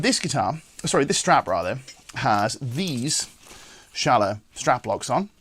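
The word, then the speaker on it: Schaller: But this strap rather, has these Schala strap locks on. Schala, depending upon how you pronounce it. I think our German friends call it Schala, but even still, these are the strap locks in question, right?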